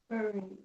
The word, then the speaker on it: burying: burying burying Okay, English is funny. It sounds like berry, like b e r r y, like the fruit.